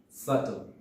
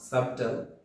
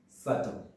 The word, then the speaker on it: subtle: the next one is so letter b is silent in this word subtle not subtle it's subtle and the next word